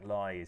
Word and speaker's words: Lye: ad break uh jack lye is i've been i've been told off because uh i've been pronouncing it wrong it is jack ly not jack lay i apologize i said it lie last year and i said it